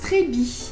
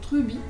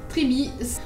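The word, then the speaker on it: Treubii: Alors, le prochain, c'est un Scindapsus Trebi. Alors, ne pas confondre avec Truby. Trebi.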